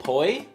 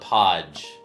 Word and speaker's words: poi: We need Oh, is it poi? Is that how it's pronounced? Dude, I apologize if you fixed if you've correct me. Yeah, I remember. It's not Podge.